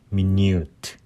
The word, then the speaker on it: minute: 그리고 minute, 자, 이것도 발음 조심하셔야 되는데, 뭐 1분, 2분 할 때 minute라고 그러는데 형용사로 아주 뭐 극미한, 세심한, 그렇죠? 그런 뜻으로 형용사로 쓸 때는 minute, U 발음이 납니다.